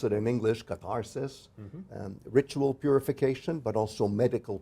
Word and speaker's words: catharsis: So "he who arrives to that place after purification"-- and here's our wonderful word katharsis, or as we pronounce it in English, catharsis-- ritual 'purification,' but also medical 'purging.'